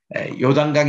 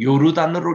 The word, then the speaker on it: 요르단: 법이 있었던 그 곳인데 요단강 의 시작해요 이게 그래서 부터 이여 담당이 쭉 내리는데 요당 간 뜻은 원래 요단강 으로 잊지마시고 요르단으로 를 읽으십시오 요르단이 정확한 발음입니다 요르 라는 뜻은 흐른다